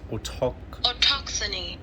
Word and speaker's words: autochthony: Let's see how we pronounce it. Autochthony. Autochthony. Sorry if it was a bit loud. It's Autochthony.